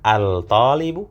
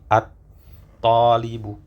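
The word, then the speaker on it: الطالب: Apakah al-talibu? Al-talibu? Ya, ternyata to ini termasuk salah satu huruf syamsi ya. Jadi lamnya yang sukun tidak terbaca menjadi at-talibu. Ya, at-talibu seperti itu.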